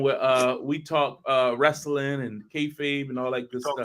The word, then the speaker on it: kayfabe: Justin, tell us about what's going on with We Talk Wrestling and kayfabe and all that good Talk stuff. K-Fade, Fab.